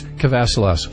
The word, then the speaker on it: Kavassilas: And I realize I've been mispronouncing your last name. It's Kavassilas, so I apologize.